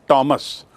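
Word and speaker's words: Thomas: इसे थॉमस मोरनी कहते टी ह ओ एम एस का उच्चारण होता है टॉमस टॉमस मोर यह भी 15वीं शताब्दी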